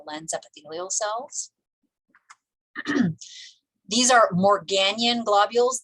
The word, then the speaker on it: Morgagnian: These are Morganian globules. That second G is silent. It's not Morgagnian, it's Morganian. So Morganian globules.